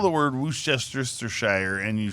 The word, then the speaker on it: Worcestershire: Worcestershire. Worcestershire. This is Worcestershire. when I moved to Boston. I really made an effort to learn the local pronunciations, but some of them are crazy.